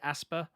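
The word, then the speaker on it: Aspyr: Is it Asper, the dev studio? Aspire. I've been saying the same.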